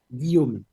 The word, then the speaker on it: Guillaume: Guillaume, pero efectivamente son con fónicas muy francesas, entonces solo los franceses lo pueden pronunciar. Pero es Guillaume.